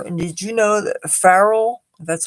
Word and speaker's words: Pharrell: magazine latest allure and did you know that farrell that's how you pronounce his name he's now gotten into the